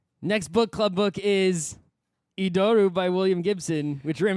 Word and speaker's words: Idoru: I guess maybe the correct pronunciation title is Idoru.